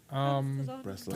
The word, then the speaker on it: Breslau: Breslau.